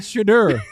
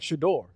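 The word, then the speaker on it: Shedeur: It's not Shadur. Shadur. It's not Shadur. Let me see what we got here. Okay. At least more like Shadore.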